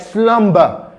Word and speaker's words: slumber: For example, if you have a word like slumber, the B sound in slumber will be pronounced.